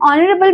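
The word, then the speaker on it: honourable: आर पीएम इज़ एन ऑनरेबल man okay an American industry. Okay? तो आप देख सकते हो एन आर। तो इसमें ओ का साउंड आ रहा है। एच इसमें साइलेंट हो गया।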